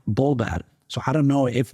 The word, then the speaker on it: Volver: I've learned that the V is kind of pronounced like a B in Spanish. So to me, it reads Volver, but when people here say it, it sounds more like Bolver.